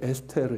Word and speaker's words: 에스테르: 말씀드린 것처럼 이 에스더 그래서 정확한 발음 이제 에스테르 인데 이 페르시아 12 이름입니다 근데 이것을 히브리어로 볼